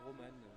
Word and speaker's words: Roman: Donc ça se prononce bien Roman, le coach le prononce comme ça. Très bien, et ben c'est bien Roman.